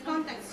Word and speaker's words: context: hear it context no the stress is on the first syllable content Contex okay not context no okay Contex so